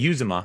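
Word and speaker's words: Uzomah: CJ Uzoma, okay, but we call him Who's Your Mama.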